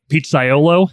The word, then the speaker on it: pizzaiolo: an extensive background in pizza you're an award-winning pizzaiolo is that the right way to say it